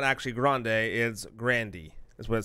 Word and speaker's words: Grande: ariana grande grande is not actually grande is Grandy as what says here grande de Grandy like the restaurant yeah Nutella here we're pronouncing it wrong that's how would you think